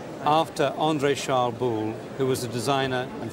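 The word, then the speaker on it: Boulle: l l e all right after Andre charl bull who was a designer and Furniture maker working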